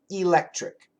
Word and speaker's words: electric: c electric electric now in that three syllable word the second syllable is stressed so it's electric electric in that situation e